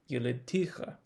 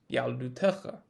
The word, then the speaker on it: יְלִדְתִּיךָ: what we would expect if the word was pronounced yelidticha. And the yod is more difficult to explain if the word were pronounced yaldutecha.